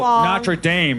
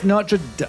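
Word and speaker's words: Notre-Dame: I think bad I think American people's bad pronunciation of French words drives me nuts so Shay's oh NRA Dame is on fire I was like you people yeah it's notra anyway blah blah Shay long it's a sh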